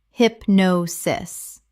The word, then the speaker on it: hypnosis: Common mispronunciation: hypnosis. Correct pronunciation: hypnosis. 3 syllables with the stress on the second.